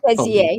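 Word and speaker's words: Bézier: No, a beezer. That's what I call it, beezer. Okay, my beezer curve. I got you. Okay, I'm going to go do a beezer. The spelling, no, the pronunciation. Bezier, but I mean, yeah.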